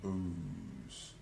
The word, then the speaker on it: Boaz: begot Obed of Ruth so no booze not boys booze and booze is spelled b-o-o-z it looks like it has it can be pronounced either booze or Boaz um and